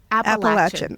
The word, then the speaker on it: Appalachian: First of all, am I saying it right? No. How do you not. say it? Appalachian.